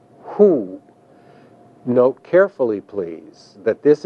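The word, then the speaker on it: הוא: masculine singular form which translates either he or it is pronounced who note carefully please that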